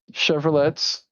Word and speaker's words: Chevrolet: Preferably Chevrolets.